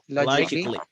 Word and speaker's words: logically: Logically. Logically or logically? Logically. Yes. Logically. Logically. You have the intonation here, G, logic. And then don't pronounce ka, just logically.